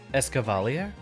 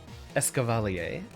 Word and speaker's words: Escavalier: have happened here escovalier escavale wait is it escavalier hold on I'm looking this up escavalier yeah but how do I pronounce it you stupid Wiki yeah I know it's like caval oh Cavalier I applied one too many syllables well that's not a